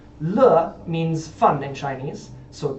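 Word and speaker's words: 乐: Sizzle, the Chinese character that means character is pronounced z, and if you say it twice, it means every character. So z z. Le means fun in Chinese.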